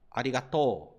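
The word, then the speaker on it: ありがとう: Lembra que nessa palavra eu expliquei para você que quando você tem uma sílaba terminada com a vogal O, como essa daqui, seguido da vogal U, você vai prolongar o som do O. Então, essa parte aqui você falará to, e não to, ok?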